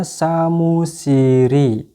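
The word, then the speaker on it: 사무실이: Maka ditambahkan dengan apa? Ya, dengan i. Maka dibacanya samusiri.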